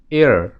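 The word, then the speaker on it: heir: আবার এয়ার, এই শব্দটির পূর্বে কি ব্যবহৃত হবে? অবশ্যই অ্যান ব্যবহৃত হবে। কেন? যদিও এই শব্দটি এইচ দ্বারা শুরু হয়েছে, কিন্তু এইচ এখানে অনুচ্চারিত আছে এবং এই শব্দটির উচ্চারণের ক্ষেত্রে এ সাউন্ডটি প্রাধান্য পাচ্ছে, অর্থাৎ একটি ভাওয়েল সাউন্ড প্রাধান্য পাচ্ছে।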